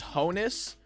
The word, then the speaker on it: Honus: of them are that it's Honus kind of like Santa says ho you know like Honus